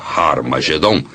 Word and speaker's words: Har Magedon: E realmente em algumas das antigas versões do Novo Testamento, escritas em grego, Armagedon tem o som aspirado no início, que significa que era pronunciada com H.